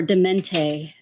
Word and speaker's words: Dement: Is it right, Dement? Yes, ma'am. Yay, I got it right this time. All right. I still like the way you're pronouncing it before, Demente. I actually really liked that. French. Yeah, so French of you.